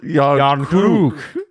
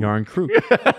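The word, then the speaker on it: Järnkrok: SO, IT'S NOT Croc or or Croak. It's it's Crew. Yarn crew.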